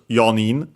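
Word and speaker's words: 四人: So yeah, they use actually the Chinese number instead, sorry, the strictly Japanese number instead. y uh in this case abbreviated into y and so becomes yonin and yeah then we go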